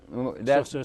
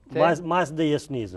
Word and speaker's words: Mazdaism: Mazdaism. That's a mouthful, isn't it? How do you say it? Mazdaism.